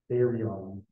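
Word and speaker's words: θηρίον: that this Greek word, which is not pronounced the same way at all, right? It's, well, we pronounce it therion, means beast.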